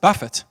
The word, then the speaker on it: buffet: And the word that he writes here is pronounced buffet.